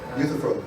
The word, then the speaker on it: Euthyphro: How do you pronounce that? Euthyphro.